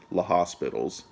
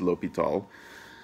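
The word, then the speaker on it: L'Hôpital: So when you read it, it's going to look like La Hospitals, but it's pronounced L'Hopital.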